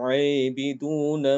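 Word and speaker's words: عابدون: Wala antum aibidun ma a'bud.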